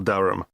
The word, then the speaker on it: Durham: How do you spell Durham? Durham. Of course, I should know that. But it's just one of those names that sounds quite different from the way you spell it.